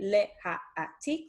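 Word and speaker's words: להעתיק: Okay, and the verb that we are going to use is laha'atik, and laha'atik is to copy. Okay, leha'atik, there's our 4 syllables.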